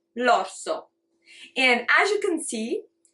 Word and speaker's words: l'orso: I'm going to say l'orso. And as you can see, it's L apostrophe orso. We don't separate in pronunciation, it becomes one sound, l'orso.